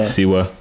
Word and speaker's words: Siwa: Siwa.